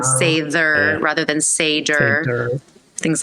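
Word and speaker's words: seiðr: sound, the diphthongs and the consonants, and like Sather magic. It's spelled with a D.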